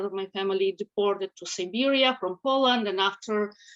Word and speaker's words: Siberia: So I was born and raised in Siberia, not the Serbia.